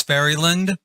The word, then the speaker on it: Fairylin: I call this Fairyland and as in ferry and then l i n. I I I pronounce it with a d on the end. It does not have a d on the end.